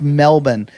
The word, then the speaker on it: Melbourne: it Pittsburgh it's the way it's pronounced it's pronounced Melbourne and and and any that's the proper pronunciation